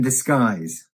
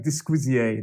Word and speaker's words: disguise: b-l-e-s-s-i-n-g second word in in third word disguise d-i-s-g-u-i-s-e now uh listen to the pronunciation of that word disguise it looks like disquizier doesn't it but it's disguise yes disguise not dysquisio yes and what this expression means basically is